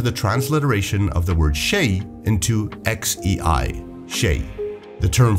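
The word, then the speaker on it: شيء: The closest pronunciation of the Arabic letter composition sh in Old Spanish was the letter X. This consequently led to the transliteration of the word shay into xei, shay.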